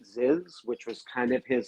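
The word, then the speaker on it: Zyzz: He's an Australian, so you're really close because his name was Aziz, but he pronounced it Ziz, which was kind of his bodybuilding alter ego.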